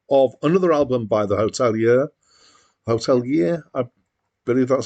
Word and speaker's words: Hotelier: Hotelier, which is how I believe it is the band name is meant to be pronounced, are an American band from Worcester, Massachusetts.